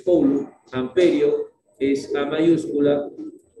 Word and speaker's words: coulomb: La carga se mide en coulomb, que tú lo conoces con C mayúscula, que se escribe coulomb, pero es coulomb, amperio, es A mayúscula y segundo es S minúscula.